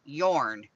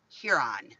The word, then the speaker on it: Huron: When you pronounce Port Huron, some people say yorn, Port Yorn, and they change the H to a Y. And it's here, like as in here, and then on, Huron.